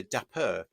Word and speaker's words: Dapr: of course and that's where Dapper actually um if you say it like that uh comes into play uh but anyway back to daper uh with an R um so Dapper is